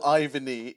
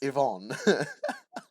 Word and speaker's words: Yvonne: It's not Ivany. It's Yvonne.